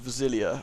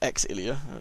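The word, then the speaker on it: Xillia: I am going to probably review Tales of Villia or Exilia, depending on how you want to pronounce it. It's X eyes, which should be Zillia, but whatever.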